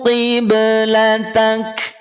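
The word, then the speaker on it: قِبْلَتَكَ: Kaf, perhatikan asalnya kiblataka. Ingat, kaf tipis betul. Kaf termasuk di antara yang tipis. Ketika huruf tipis dia berharokat, maka bunyi vokalnya adalah bunyi vokal A. Nah, gitu. Vokal A ketika huruf yang tipis. Maka perhatikan, asalnya qiblataka karena waqaf atau berhenti yang semula fathah, dia berubah menjadi sukun.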